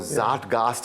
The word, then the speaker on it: zeitgeist: That zeitgeist or Zatgast, I'm now told it's pronounced, is actually what allowed us to be international yet Indian.